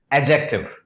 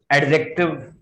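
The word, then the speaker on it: adjective: इस वर्ड में आपको सर डी को साइलेंट करना पड़ेगा. एक्चुअली डी को बाहर नहीं निकाला जाता. This is एडजेक्टिव, नॉट एडजेक्टिव. एडजेक्टिव नहीं बोलेंगे.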